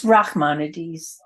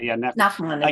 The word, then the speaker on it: Nachmanides: How does Rachmanides, am I saying it right? Fit into all of, And you mean He was also from Spain. maybe Nachmanides? not the one from Girona, Yeah, Spain? yeah. Nachmanides.